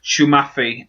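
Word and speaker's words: Psamathe: Now, she comes from a homeworld planet called, and forgive me, I'm going to brutalize this name, but apparently it's pronounced Shumafi.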